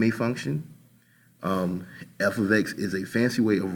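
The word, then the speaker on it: f(x): a function versus an equation and it is pronounced f of X so that we understand the proper way to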